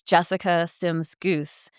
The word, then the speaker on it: Sims-Gousse: Hi, my name is Jessica Sims-Gousse. No, it is not spelled the way you think it is, and you do not pronounce it the way it is spelled.